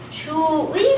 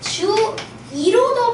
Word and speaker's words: 주의: 주의 같은 경우입니다. 주의. 어떻게? 기본적으로 의. 기본적으로 의. 그리고 주 이로도 발음이 가능해요.